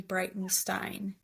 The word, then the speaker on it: Breitenstein: and then my Stravo just Brightenstein like Einstein but with the B R E I T E N S T.